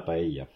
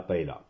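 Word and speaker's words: paella: vous le connaissez tous c'est euh la paille ou prononcer en français en bon français de base la PAA et bien je suis désolé la paela c'est pas une PAA c'est une paille la PAE d'ailleurs pour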